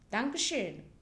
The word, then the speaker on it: Dankeschön: Just like U umlaut here, this is O umlaut. Dankeschön.